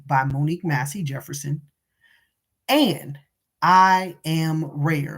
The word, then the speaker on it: IAMRAER: But also listen to the music by Monique Massey Jefferson and I Am Rare, and it's spelled IMREAR. No, I'm sorry, RAER, um, Rare.